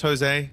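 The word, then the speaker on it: José: name because you know it's a Latin thing right where um it starts with a J but it's actually pronounced as a h and it gets a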